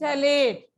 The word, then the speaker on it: terephthalate: ये पी बेटे साइलेंट होते, इसको पथैलेट नहीं कहते, पीएच को. That is थैलेट.